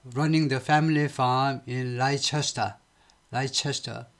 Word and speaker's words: Leicester: Leicester. 레스터라고 하네요. 레스터, sorry. 라이도 아니고 리도 아니고 레스터라고 발음합니다.